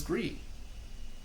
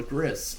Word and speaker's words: Gris: This is Gree or Gris if you want to pronounce it how it looks.